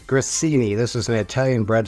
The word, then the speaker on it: grissini: say this cuz I always say it wrong grini grini this is an Italian bread stick you need